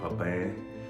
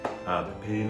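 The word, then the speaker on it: Pépin: And I used to love her shows, and also when she worked with Jacques Pepin. Pepin, I think is how you pronounce it.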